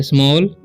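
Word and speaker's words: small: A double L जब भी रहता है तो ए का उच्चारण ओ हो जाता है। ठीक है, एल का ल, तो स्मॉल।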